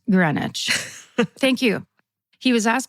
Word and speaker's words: Greenwich: And then in parentheses it says, "pronounced Greenwich."